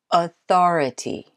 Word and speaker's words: authority: another with four syllables authority Authority what do you think if you said second you got it right authoritative view Millett II